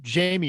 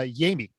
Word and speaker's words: Jaime: we've been calling him jamie and i don't think he cares but his name is actually uh yami so he actually goes with the hispanic pronunciation yeah really uh really